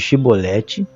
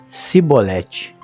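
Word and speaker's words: Chibolete: E dizendo ele: não, então lhe diziam: dize, pois, Shibolete. Porém ele dizia: Sibolete, porque não o podia pronunciar bem.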